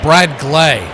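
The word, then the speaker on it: Bradgley: So it is Bradley. Bradle is what they're saying. How he pronounces it. The one two swing punches it over the back behind the the plate off to the right. One and two. Something's not fixing there. I Okay, this is what they're saying it's pronounced as the one two pitch. swing chops it back. Do it again. So, it's Brad Glay.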